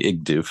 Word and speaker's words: Igdoof: It's Igdoof. That's right. Igdoof is right.